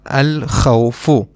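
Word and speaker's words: الخوفُ: We pronounce the lam because kha, this letter, is one of the moon letters, and we just learned that when we have a moon letter after the alif lam, we will pronounce the lam. That is why we will pronounce the lam, al-khawfu.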